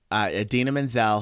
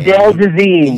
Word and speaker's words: Idina Menzel: So, do you remember when Idina Menzel sang "Let It Go" on the Oscars a few years ago, and John Travolta totally like mispronounced her name? Adele Dazeem. Yeah, yeah.